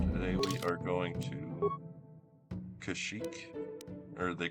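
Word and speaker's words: Kashyyyk: Um anyways, so today we are going to Kashik or they call it Kashik in this game.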